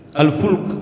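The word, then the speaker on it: الفُلْك: Alfulk itu artinya kapal. Kalau al-falaq itu artinya apa? Ee perputaran semesta ini namanya falak. Ilmu ada ilmu falak. Jadi Arab itu bahasa Arab itu beda sedikit harakatnya, bacanya maknanya beda.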